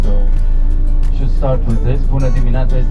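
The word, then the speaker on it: Bună dimineața: bit of Romanian so should start with this buad minata is not the easiest thing to pronounce in Romanian but this is how we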